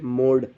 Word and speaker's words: mode: ई last में ई है तो इसको ई नहीं पढ़ेंगे, ये एक तरह से साइलेंट हो जाएगा, ठीक है। आपको पता भी नहीं चलेगा लेकिन इसके मोड के अंदर ई का साउंड रहेगा।